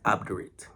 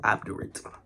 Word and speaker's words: obdurate: But because it's an adjective, it's obdurate. It's obdurate. So the E is silent and the A becomes an I.